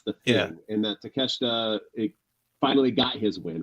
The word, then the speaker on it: Takeshita: Now we got Kenny Omega versus Takeshita.